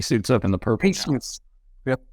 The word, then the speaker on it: Abmas: Max Abmas? Asmus? Isn't it A-B-M-A-S? The B is silent. Get to know the name when he suits up in the purple. Asmus. Yep. Asmus.